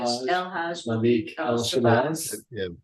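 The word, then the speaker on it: El-Hajj Malik El-Shabazz: oh yeah, how do you pronounce the whole name for Malcolm X, the real name? El Haj. Malik El Shabazz.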